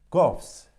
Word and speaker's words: cough: كوفس هنا جي اتش يلفظ صوت الفي. كوفس. كريم.